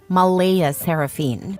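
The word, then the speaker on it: Mleigha Seraphyne: Clare insists it's pronounced Malaya Saraphene, but she's adamant about keeping the creative spelling because normal names are boring and my daughter deserves to stand out.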